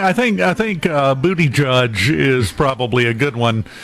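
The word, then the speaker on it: Buttigieg: sorry yeah booty judge booty judge yeah booty judge that's the easiest way to remember it because well just seems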